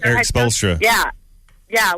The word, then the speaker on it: Spoelstra: Eric Spoelstra.